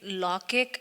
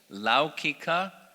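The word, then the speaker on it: लौकिक: The slide where there is a difference between Laukic and Alaukic, in the Vedas there is an Alaukic language and... That's just, the pronunciation is Laukika and Alaukika.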